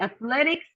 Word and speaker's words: athletics: Okay, only athletics, we have the second syllable stress.